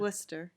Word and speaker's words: Worcester: of my childhood and do people in waster pronounced that way sir or is it like Wooster it's an awesome Wooster yeah I know there's an action well Wooster